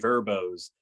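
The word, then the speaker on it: Vrbo: you said, toy rentals on vacation, or Airbnb, Verbos. Is that how you say it? Verbo?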